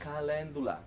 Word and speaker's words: calendula: Calendula. It's spelled Calendula.